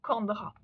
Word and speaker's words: Chandra: en prononçant en silence le mot Chandra, qui doit se prononcer Kandra, qui signifie lune en sanskrit.